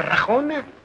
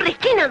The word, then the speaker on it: Regina: Además, no quiero perjudicarte a usted nada, doña Rajona. Me llamo Regina, don Egip, no Rajona. Perdona, señora. Te digo Rajona porque no puede pronunciar Regina.